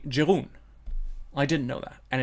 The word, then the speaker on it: Jeroen: to pronounce his name, because it's written Jeroen, and you think, oh, that's the way how to pronounce it. I'm trying to be really Belgian French, but it's actually Jeroen.